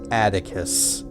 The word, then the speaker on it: Atticus: Interestingly, the name Atticus itself is a surname in the land of Emeria, though it is pronounced Atticus.